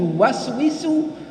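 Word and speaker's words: يُوَسْوِسُ: Min syarril waswasir khannas alladzi yuwaswisu fi sudur. Lafadznya itu yang benar alladzi yuwaswisu. Nah, mandek tuh. Fi, mandek lagi. Sudurin nas. Kan lafadznya begitu. Yang benerin tuh bacanya alladzi yuwaswi. Sufi itu kan salah.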